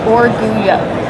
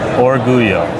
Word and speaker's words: Orgullo: So, the pronunciation is Oruo. Oruyo. Yes. All right. I think I got So, double L makes that Y sound.